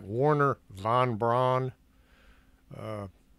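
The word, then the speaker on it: Wernher: it Wagner it's like Warner von Braun uh I've heard it pronounced Werner but it's got a w in it Maria's hair was blonde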